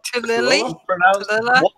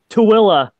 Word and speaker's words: Tooele: It's pronounced Tooele. Tooele. Tooele.